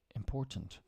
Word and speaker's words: important: right before we end words with a t that is could often not pronounced button Mountain certain curtain Fountain important we typically don't pronounce the T in these words instead we cut the